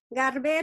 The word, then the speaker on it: Garber: Romina Garber is, así se pronuncia? Garber?